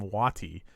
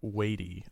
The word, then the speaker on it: Watie: And so I always thought it was Sam Watie, but the narrator pronounced it Watie.